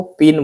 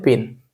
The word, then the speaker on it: pein: का देख रहे हैं, इसको पिन बोलते हैं। इसको क्या बोलते हैं, पिन। पिन का स्पेलिंग PEIN होता है, ठीक है।